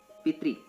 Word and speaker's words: पितृ: पितृ शब्द का उच्चारण करें, पितृ, अंतिमे किम आगच्छति? त्रि, त्रि, त हलंत रि।